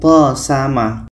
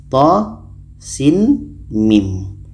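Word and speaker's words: طسم: dan al-qasas di sini bacanya bukan th sama bukan th sama tapi kita Eja satu-satu ini dibaca th ini dibaca Sin ini dibaca mim th Sin mim dan untuk panjang tho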